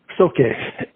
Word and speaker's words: Soke: So, Jeff Hall, or actually it should be, how do you pronounce that? Soke, Jeff Hall? Soke.